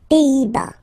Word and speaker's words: Pays-Bas: Final S here, not pronounced. Same thing here. Pays, pays, and then bas. Les Pays-Bas.